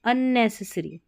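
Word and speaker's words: unnecessary: एंड और UN ने, NE को नी, ने से, तो नी सी नहीं पढ़ना, ने से सरी, SSARY, सरी, अननेसेसरी, ठीक है, बिना ज़रूरत की, जिसकी आवश्यकता ही नहीं है, अननेसेसरी।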